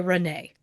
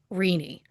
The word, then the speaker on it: Rene: The name is spelled Rene, so it is my instinct to say Renee. But according to the book Murder by Milkshake by Eve Lazarus, in this case, it's pronounced Rini.